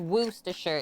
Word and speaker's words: Worcestershire: It's actually pronounced Worcestershire, Eric. Trust me, my grandma let me know.